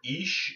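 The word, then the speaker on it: Ix: And then the 14th, we've got 4 Jaguar, or Ish is how it's pronounced.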